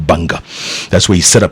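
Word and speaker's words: Gbarnga: the middle of a country a town called Banga Banga it spelled GBA and GBA Banga is ice pronounced what the writing is like Kabongo but it's pronounced Bunga that's where he set up his headquarters nice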